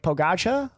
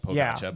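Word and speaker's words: Pogačar: name on that list it looks like it's spelled like pogacha but it's just pogach I think is what I see yeah he's a kti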